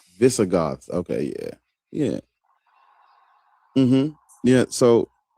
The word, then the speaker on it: Visigoths: Is it Vizzy? It's Visigoths. Visigoths.